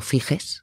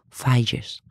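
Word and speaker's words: Figes: autor durante un tiempo yo llamé Orlando fijes que es como se escribe pero resulta que se dice Orlando falles es un británico que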